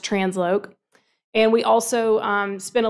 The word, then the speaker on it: TransLoc: The LOC is short for location, so it's pronounced Transloc.